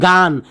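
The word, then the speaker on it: gun: তারপরে দেখো জি ইউ এন, ঠিক আছে, জি ইউ এন উচ্চারণটা কি হচ্ছে, গান, গান মানে কি বন্দুক।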